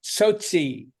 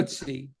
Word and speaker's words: Tsotsi: So without further ado, we looking forward to hearing how do you pronounce it anyways? Tsotsi. So, Tsotsi.